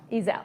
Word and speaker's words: Ezel: Georgie Mendez, and Heather Ezel. Pronounce that correctly? Ezel. Ezel. Yes. That's much more pretty than I said.